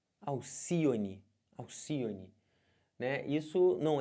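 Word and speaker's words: Alcíone: ave mitológica o nome dela é Alcione e não Alcione é Alcione as sílaba tônica é essa aqui então se você conta última penúltima antepenúltima Alcione é uma palavra proparoxítona beleza aqui ó aríete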